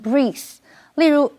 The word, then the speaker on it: breathe: Charles 因为工作的关系，得在旧金山、洛杉矶两边跑。接下来我们看的是 breathe 这个动词 breathe 是指呼吸，注意 EA 在这里是发长音的 E 念成 breathe。例如 It's so stuffy in here that I can